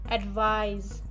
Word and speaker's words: advise: in the verb advice the preceding vowel is pronounced longer we will pronounce it as advise so let's see the